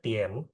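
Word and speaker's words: 点: Jam itu bahasa Mandarinnya Tien. Jam itu bahasa Mandarinnya Tien. D I A N.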